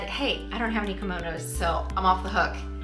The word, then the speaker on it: kimono: Well, that would actually be a category called kimono. Now, if you're like me, you heard the word kimono and said, hey, I don't have any kimonos, so I'm off the hook.